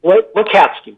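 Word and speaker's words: Lacatski: Do you know how that name's pronounced? Yes. Lakatsky, I believe. Lakatsky, that's right.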